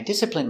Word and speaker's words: discipline: discipline my children I discipline my child when he doesn't behave pronunciation discipline d d dis it disciple disciple discipl discipl discipline discipline discipline stress on first syllable discipline discipline discipline I